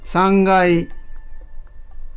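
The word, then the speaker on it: 三階: 6 kemudian lantai Del karena agak berbeda penyebutannya dibanding dengan sebutan lantai-lantai yang lain oke ninasang coba simak pengucapan kosakata lantai berikut sambil ditirukan ya ikai nikai sangai yongkai Gokai lok Kai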